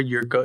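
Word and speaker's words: Jirka: in spain yes and his last name jerka or yurka if you want to pronounce it in such j i r k a i don't know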